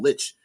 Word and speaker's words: lich: like a lich does a powerful Lich or lick or I've heard people say it's pronounced that way but I like Lich because lick doesn't sound dangerous enough uh the sune says